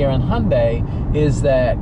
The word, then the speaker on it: Hyundai: with Sunday so it's Hyundai and apparently that was a mistake by the original General the general manager who uh came out and said look just pronounce it Hyundai like Sunday and that wasn't something